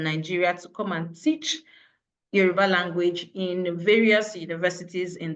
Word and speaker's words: Yoruba: professional teachers from Nigeria to come and teach Yoruba language in various universities in the US.